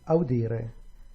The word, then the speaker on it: audire: With leggere is on the third to the last, and audire, again, penultimate syllable.